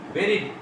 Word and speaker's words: buried: বেরিড উচ্চারণ হবে, বারিডও হবে না, বুরিডও হবে না, উচ্চারণ হবে বেরিড, BURIED, বেরিড past tense, past participle sorry.